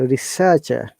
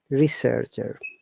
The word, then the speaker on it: researcher: most pronouns the other two are silent so researcher that is the amazing of british english you